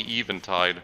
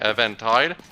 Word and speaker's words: Eventide: of entire Island thing I keep saying event tied but it's probably even tied what it's supposed to be called in pronunciation but Evan Tai just Works a bit more for me the thing is it probably would only be pronounced that way Eventide if it was e v a n tide not e v e n okay well that's actually